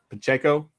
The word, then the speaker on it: Pacheco: that how you say it anybody know correct pacheco that's how i've been saying it in my